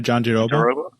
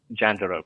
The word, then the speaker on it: Jandiroba: How do you pronounce the name again? Oh, Virna Jandiroba? Jandiroba, yeah, sorry.